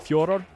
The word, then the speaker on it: Fedor: But it has something to do with the Russian dialect and the way that the name is pronounced. Because I asked him, what does your mother call you, right? That's what he said. It's something like Fjordor, and he just says Federer's fine.